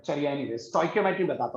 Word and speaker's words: stoichiometry: ठीक है, इसकी जो एग्जैक्ट प्रोनाउंसिएशन होती है वो होती है स्टोइकियोमेट्री, बट कई बार कुछ स्कूल्स में इसे स्टोइशियोमेट्री भी कहा जाता है।